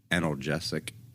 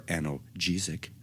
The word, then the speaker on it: analgesic: In the special case of opioids, particular attention is paid to whether the analgesic or analgesic, depending on your pronunciation, effects overlap with their